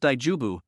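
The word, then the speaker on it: 大丈夫: Note, the Japanese is pronounced daujubu, meaning it's okay or no problem.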